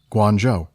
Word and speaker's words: Guangzhou: Guangzhou is pronounced Guangzhou.